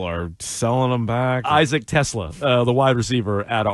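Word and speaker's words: Teslaa: Tell me how you'd pronounce this. T-E capital S-L-A-A. Isaac Tesla. Tesla? Tesla. Yeah, Tesla.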